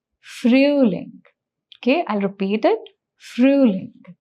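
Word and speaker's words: Frühling: Mark the sound of Om here that is the sound is ooh. So the pronunciation becomes fruing.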